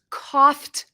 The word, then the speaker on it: coughed: In the past, it's coughed up. Coughed up. The ED has a T sound.